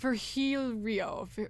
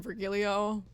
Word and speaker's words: Virgilio: bartender you look winded for gilio it's pronounced for heal Rio for hero for hero vir hero vir hero Rio ver he Veer he Rio virgirio I'm gonna keep calling him virgilio no I'm pretty sure